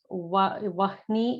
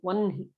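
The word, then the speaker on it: वह्नि: Vahni is what it is written as if you're reading it in English, but it should be pronounced as Vanhi.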